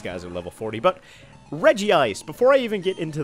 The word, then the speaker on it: Regice: anything like that but most people I've heard call it Reggie ice which I guess makes sense if they're actually supposed